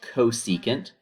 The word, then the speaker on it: cosecant: all right so this one is csc that's pronounced cosecant of theta now the theta represents your reference